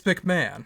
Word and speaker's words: McMahon: but just like Vince, it's McMahon.